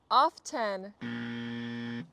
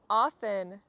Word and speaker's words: often: Often often. often. Pronouncing the word often is not a mistake. Many Americans pronounce it just like that, often. I prefer often with a silent T, but I hear Americans every day pronounce the word often.